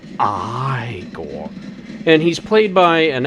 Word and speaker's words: Igor: no it's pronounced frankenstein and you must be eagle and igor who is igor who he thinks is igor he says oh no it's pronounced i gore and he's played by